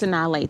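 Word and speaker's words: Sanaa Lathan: Yes, Sanaa Latham.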